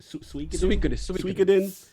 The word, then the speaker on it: Suikoden: Definitely the Lord of how we pronounce Suikoden? I always butcher it. Suikoden and Eiyuden Chronicles.